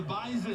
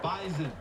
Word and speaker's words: Bison: Yeah, the Bison. And make sure you say it correctly, because if not, they will let you know they're not the Bison. Right. They're the Bison.